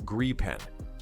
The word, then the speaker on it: Gripen: The Saab JAS 39 Gripen, pronounced Gripen, may not wear a cape, but it sure flies like a superhero.